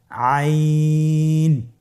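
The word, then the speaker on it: عين: আইন হরফটি উচ্চারণের সময় অবশ্যই 3 আলিফ টেনে পড়তে হবে এবং আইন হরফটি বারিক হরফ, পাতলা করে পড়তে হবে। আপনারা আমার সাথে বলুন আইন।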